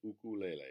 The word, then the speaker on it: ukulele: this is an Akula lei a ukulele ukulele is how it is pronounced it has four strings and sounds lovely